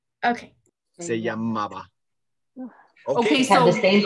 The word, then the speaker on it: se llamaba: Yeah, how do you pronounce, like, was called, I can't say the last word. Se llamaba. Okay. Se llamaba.